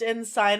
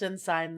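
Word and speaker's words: ensign: I will say it's pronounced in sign, though.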